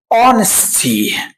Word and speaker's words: honesty: honesty. طبعا هنا الاتش silent مش بتنطق.